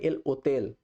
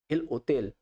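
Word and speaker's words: el hotel: হোটেলকে Spanish ভাষায় বলে এল ওতেল। এল ওতেল। এইচটা কিন্তু উজ্জ থাকবে।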